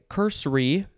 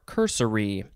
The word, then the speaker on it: cursory: running swamp next is you could say cursory or cursory two syllables or three syllables cursory adjective from 1601